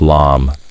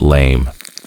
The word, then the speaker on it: lame: A baker's lame, pronounced like lom, not lame.